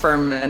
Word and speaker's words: Fuhrman: going to ask you how do you say your last name just Ferman actually so you close Katrina Ferman um how are you